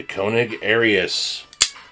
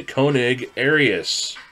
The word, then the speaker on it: Koenig Arius: final review of the konig arius that's right you heard me say it correctly the konig arius so as some of